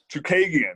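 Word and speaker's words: Chookagian: Chukagian, yes, there you go.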